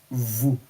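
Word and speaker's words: vous: are aware g it's v o u s is vu a I am E.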